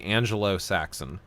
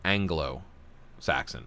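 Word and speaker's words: Anglo-Saxon: corrected me on it I used to say Angelo Saxon instead of Anglo Saxon Anglo Angelo Angelo Saxon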